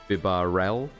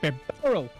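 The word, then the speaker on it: Bibarel: I always pronounced Bibarrel with the stress on the rel. Bibarrel, not Bibarrel. Huh. I like Bibarrel.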